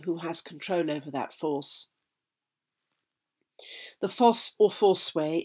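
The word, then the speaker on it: Forse: turns inland to thurso force f-o-r-s-e names are bound up here the spelling reflecting the british pronunciation of the letter o as or this still survives in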